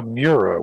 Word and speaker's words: Miura: replacing the uh how do you say that miura right the miura which was the most famous lamborghini um i